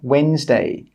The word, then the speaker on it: Wednesday: The letter D is normally not pronounced if it's before an N or a G. For example, Wednesday, badge.